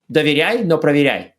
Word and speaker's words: Доверяй, но проверяй: You can make that rhyme if you say it in Russian. Oh. Yes, it rhymes in Russian. That's the original proverb in Russian, does rhyme, yes.